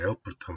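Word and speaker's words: Erfurt: 한국말로는 ER이니까 에어프루트라고 이제 이렇게 표기가 되는데요. 독일어 발음으로는 에어프루트가 맞습니다. 그래서 그냥 독일어 원어 발음으로 에어프루트라고 했습니다.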